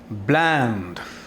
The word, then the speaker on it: bland: ब्लैंड, दोस्तों ये BLEND नहीं है, उससे आप बचकर रहें। यह है BLAND। थोड़ा सा प्रोनाउंसिएशन कभी ब्लैंड भी होता है, लेकिन इसको हमें ब्लैंड कहेंगे।